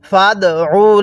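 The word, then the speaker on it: فَادْعُ: ফাদউ লানা। দেখুন, আইনটা আমি চাপ দিয়ে পড়েছি, যার কারণে আইনটা সহি শুদ্ধ উচ্চারণ হয়েছে।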